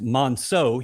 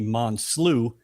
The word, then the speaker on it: Monceaux: Uh my name is spelled or pronounced Monceaux. He called me Monslew for 6 years.